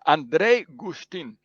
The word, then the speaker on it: Andrej Guštin: gustav justin no andre andre how do i pronounce her name you just did me a second ago yeah it's andrei gustin thank you andre for coming it's a pleasure